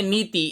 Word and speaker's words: नीति: उच्चारण करिए नीति। ई का स्वर दीर्घ है न पर और तय पर ह्रस्व है।